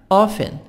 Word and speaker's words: often: often. T silent.